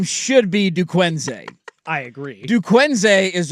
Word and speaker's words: Duquesne: is way Duane okay we have an s in here we're not going to pronounce I think my favorite